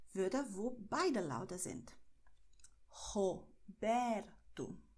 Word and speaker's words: Roberto: Zuerst hier Kehle und dann nur Zunge. Roberto. Okay? Obwohl in vielen Regionen von Brasilien eher Roberto ausgesprochen wird. Dann beides mit der Kehle. Okay? Aber in São Paulo sagen wir Roberto.